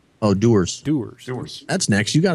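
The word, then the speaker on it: Dewar's: I have is my little how do you pronounce that dewars oh doers doers that's next you got enough don't worry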